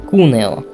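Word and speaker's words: Cuneo: он вот на уре ударение падает на букву у кунео или кони запитаю кони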